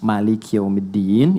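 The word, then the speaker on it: مَالِكِ يَوْمِ الدِّينِ: Jadi kalau teman-teman pernah dengar Maliki yaumiddin itu bisa dibaca dengan dua cara. Ini informasi saja. Bisa maknya pendek bisa panjang.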